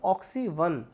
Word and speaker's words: Oxy Van: pension scheme right and oxygen not van the pronunciation will be oxy one ok oxygen forests right